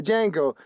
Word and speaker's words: Django: G um the one where the D is silent. Jango. Yeah, Django.